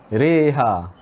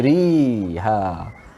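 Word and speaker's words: مجريها: Reha. Jangan baca riha. Okey, baik. Alhamdulillah. Yang itu bacaan hukum imalah ya. Cara bacaan imalah dengan mencondongkan bacaan tu. Tidak bacaan ri tetapi re. Kita sebut X-ray. Kalau kita nak praktis apa benda nak tulis nak sebut ni X-ray, re. Okey, re.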